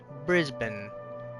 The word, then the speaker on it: Brisbane: Brisbane. It's pronounced like that. Quark says, "Oh, okay." With the short A.